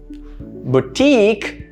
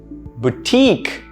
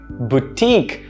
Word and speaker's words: boutique: supposed to be pronounced boutique boutique notice that there are two syllables the syllable stress is still on the second one but the first syllable is pronounced boo instead of bow right boutique not boutique